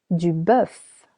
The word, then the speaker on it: bœuf: Du bœuf. Du bœuf. Beef. Same as an egg, letter O is silent.